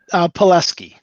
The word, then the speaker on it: Pelesky: Pelesky.